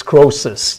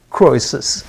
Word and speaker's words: Croesus: We say Croesus. The E is very. Oh, so, The emphasis is on the okay. Croesus. Yeah, the Germans still use that OE sounds like an A almost.